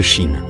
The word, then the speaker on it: Qi: une pratique millénaire de Chine le terme fengchu signifie vent et haut symbolisant la fluidité et la vitalité du Qi ou énergie vitale QI prononcé Chi est un concept central